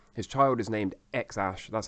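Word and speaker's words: X Æ: the Tesla Model X his child is named X Ash that's how it's pronounced and it's written like this x a12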